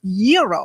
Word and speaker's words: gyro: in line at Papa Gyros I order the gyro Supreme suddenly the lady behind me chimes in it's pronounced Euro then the fow behind her says it's a gyro I turn my back